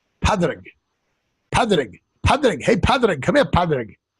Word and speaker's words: Pádraig: And the reason for that is the Irish spelling of a name Patrick is spelled P-A-D-R-A-I-G. So it's Paddy's Day. Pádraig. Pádraig.